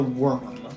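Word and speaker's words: wyrm: You see Bardoon the Worm, and it's spelled worm, W-Y-R-M.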